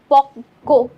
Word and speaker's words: পক্ক: এই জন্য দেখো ককে আমাদের দুইবার উচ্চারণ করতে হয়েছে, পক্ক, ক, ক দুইটা ক, এটাই কারণ।